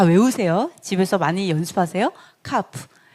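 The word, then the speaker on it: כ: 카프. 자, 키읔 발음 카프죠. 자, 카프. 이게 오히려 크 발음이고 이게 흐 발음이 약간 크. 네, 약간 목구멍 소리가 납니다. 흐. 자, 약간 H가 섞인 듯한 발음.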